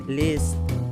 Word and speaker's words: Liszt: of bavaria german empire this pronounced as liz was a major composer